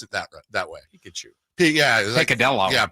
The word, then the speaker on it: picadillo: That's what she said, but I don't think she pronounced it that way. Pikachu. Yeah. Picadillo. Yeah, it's King. It has a Cuban picadillo.